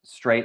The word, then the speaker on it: Streit: It's actually pronounced Straight, I believe, though. It's Streit.